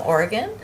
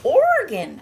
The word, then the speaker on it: Oregon: say it again Salem Oregon our friends out got to make sure to say it like Oregon like like a like a Oregon and not Oregon I learned I had